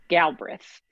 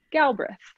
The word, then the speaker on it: Galbraith: So we say Galbraith, like as if Ah, the second A doesn't exist, as if it's Brith. So Galbraith, Galbraith, Galbraith.